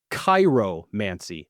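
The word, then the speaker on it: chiromancy: Yours is Cairomancy. That's spelled C H I R O. M A N C Y. C I R O. Yes. You seem shocked by the spelling. Well, cuz it was like Cairo, you know.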